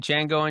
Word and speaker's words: Django: Walter Gogggins in in Django Unchained the D is silent hillbilly the D